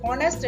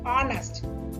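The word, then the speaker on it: honest: ஆனஸ்ட் என்னைக்குல H வந்து சைலண்டா இருக்குது. ஹானஸ்ட் என்று சொல்லக்கூடாது, ஆனஸ்ட்.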